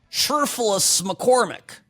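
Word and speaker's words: Cherfilus-McCormick: I was pronouncing it absolutely correctly. Sherfulus McCormick.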